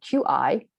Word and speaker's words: qi: So QI is pronounced qi, so just like kimchi.